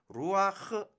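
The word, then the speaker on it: רוח: 된다 어딜 거야 되냐면 먼저 이 바타 부터 먼저 발음하고 그리고 했을 제일 마지막에 훔 을 제일 마지막에 다름 해야 된다 그래서 바타 부터 먼저 발음한다 이렇게 이야기를 하겠습니다 그러면 어떻게 되냐면 루 그 다음에 바 타니까 아주아주 무 아 멈 넣고 그리고 나서 후 이렇게 발음해야 된다 그래서 이것을 읽으면 루아흐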